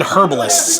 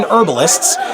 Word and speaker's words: herbalists: a hidden herbalists I it kind of wants you to say hidden herbalists doesn't it that's not how you say it it's hidden herbalists so that's really nice